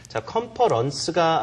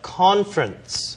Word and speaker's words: conference: 남자분이 have to a 컨퍼런스가 아니라 영어 발음 좀 붙여서 해야 되죠 conference 오케이 퍼 쪽이 아니라 conference I have to go to